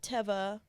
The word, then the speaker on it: Teva: Did you know that this is Teva. that it's pronounced Teva? Hmm. Because the people at Teva responded to an Instagram post and they said it's pronounced Teva because it's the Hebrew word for nature.